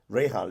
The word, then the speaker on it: Rahal: pronouncing well I certain my surname is pronounced many ways Ral Rahal what's correct ra Ral is the correct one okay but uh no